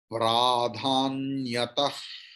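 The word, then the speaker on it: प्राधान्यतः: After ta, visarga is there, and after that puru, ka is there. So visarga's pronunciation like will be like kha, but not kha.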